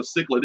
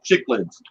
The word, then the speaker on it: cichlid: the stickers even now a lot of people don't know what a cichlid is and they still say it wrong chick legs but you know you